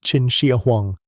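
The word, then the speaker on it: Qin Shi Huang: the 3rd century BC to the reign of Chin Shahang, pronounced Chin Shia Huang.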